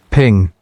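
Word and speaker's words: 苹: The word for apple in Chinese, ping, sounds like the word for peace, ping'an.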